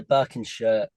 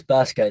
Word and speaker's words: Burscough: And after, well, I need to pronounce this right, but after Birkenshire, I think I'm saying that right, maybe. First go. Yeah, it was Burscough.